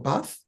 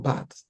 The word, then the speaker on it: bath: Please let's try and see how we can stop pronouncing TH as D or T. So when we have moth or bath, don't let's say moth or bath or something like that.